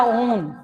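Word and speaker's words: -one: Okay, and कीटोन, कीटोन का आपका 1 वाला ओन, ONE, पर इसको प्रोनाउंसिएशन क्या करेंगे, ओन।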